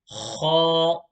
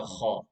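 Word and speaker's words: خ: And box number 7 is the letter Kha. Kha. The letter Kha is pronounced from the top part of the throat.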